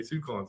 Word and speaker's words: Sucon: Okay, Sucon's had to send me a text message. It was like Sucon, like Yukon, like it sounds like okay, because I pronounced it 40 different ways.